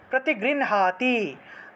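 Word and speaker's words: প্রতিগৃহ্ণাতি: আগে উচ্চারণ করতে হয় সেজন্য হ এবং হ এবং দন্তন্য যদি একসাথে যুক্তবর্ণ হিসেবে থাকে সেই ক্ষেত্রে ন টাকে আগে উচ্চারণ করতে হবে হ টাকে পরে উচ্চারণ করতে হবে তাহলে প্রতিগৃণহাতি দাদাতি প্রতিগৃহাতি নানা থৈসা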